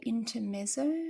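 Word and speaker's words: Intermezzo: Yeah, it's called uh Inter Meo, I think.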